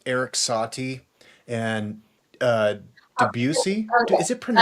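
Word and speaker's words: Debussy: Yeah, I I've always been like Eric Sati and uh Deucey. Is it pronounced debutc?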